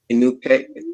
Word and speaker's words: Inukai: And so our guest today is Connie Balcher Inukai.